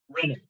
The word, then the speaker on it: renin: make sure you remember this is just single ends sounds exactly like like it's spelled but with no extra ends anywhere renin okay so what renin